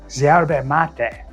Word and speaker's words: yerba mate: Argentina's real passion is yerba mate, or as the locals pronounce it, yerba mate. I think that's how you pronounce it.